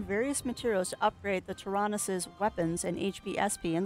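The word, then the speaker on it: Taranis: If we have materials, we can enhance the performance of the Tanaris more and more. Did I actually say that right? Tyrannus, no. I said it wrong again. It's Tyrannus. I need a posty note.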